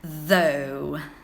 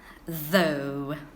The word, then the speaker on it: though: sound do you know G and H makes a long sound so though though okay pronunciation is out